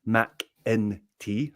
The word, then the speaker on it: McEntee: I believe it is pronounced McEntee. So just think of that E as an I.